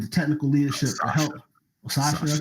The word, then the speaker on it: Satya: Sasha, that's how you say it? Yeah. So that's how you say it? Wow. It's like Sasha.